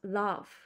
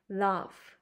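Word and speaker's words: laugh: love이 gh 돼 있지만 이거는 발음이 F 발음이납니다 그래서 love love 이렇게요 요거 보시면서 어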